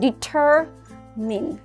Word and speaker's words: determine: Đấy, từ này chúng ta sẽ đọc là determine. Determine. Đấy, đọc thứ nhất là mình sẽ nhấn vào cái âm tiết thứ hai, đúng không? Nhấn vào chính cái er này, mình sẽ nhấn vào cái âm tiết thứ hai đó. Và thứ ba nữa là cái này mình không đọc là my nhá, mà là mean.